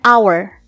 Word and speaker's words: hour: Jika diperhatikan, huruf H memang tergolong konsonan, tapi pengucapannya pada kata hour diawali dengan vokal, sehingga menggunakan en, bukan e ya.